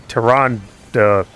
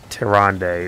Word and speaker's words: Taranda: Oh, and other people who keep pronouncing Taranda wrong. Even when they're playing the game where it said Taranda. It's not Taronde. It's never Taronde. It's weird saying it otherwise. I don't know why anyone does. It's never, ever been pronounced Taronde in any voice acted thing for Warcraft.